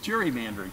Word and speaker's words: gerrymandering: Those who wish to pronounce it as Eldridge Geary, right? Mm-hmm. Whereas most of the country calls it gerrymandering.